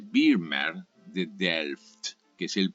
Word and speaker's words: Vermeer: que se llama vermeer se escribe vermeer y vermeer se dice vermeer de delft que es